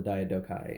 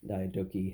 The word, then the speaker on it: Diadochi: But this is the time period after the first successor war, War of the Diadochi and Diadochi, however you want to pronounce that.